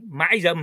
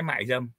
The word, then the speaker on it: mại dâm: như một cô gái gọi là cô gái mãi dâm hay là cô gái mạii dâm mã mạii mạii dâm mại dâ mại không